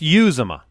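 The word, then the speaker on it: Uzomah: yeah I really hope it's Croft it's it's you Zuma you Zuma okay we've got it seems a official Cincinnati Bengals pronunciation jibe use the front of my face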